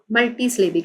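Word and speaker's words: multisyllabic: Which are called मल्टी स्लेबिक, मल्टी स्लेबिक कहते हैं उसको, मल्टी स्लेबिक, मल्टी स्लेबिक, इसको प्रोनाउंस करेंगे मल्टी स्लेबिक।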